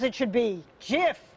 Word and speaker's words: GIF: And though there's a never-ending argument over how to pronounce the word, the inventor says it should be GIF, not GIF, GIF, as in the peanut butter.